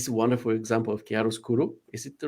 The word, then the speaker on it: chiaroscuro: me, but this is a wonderful example of chiaroscuro. Is it the right pronunciation? Yeah, chiaroscuro.